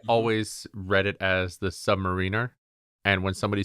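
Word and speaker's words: Sub-Mariner: read it as the Submariner. And when somebody said it out loud as a Submariner, I was like, what is wrong with you? What? Why are you putting the emphasis on the wrong syllable?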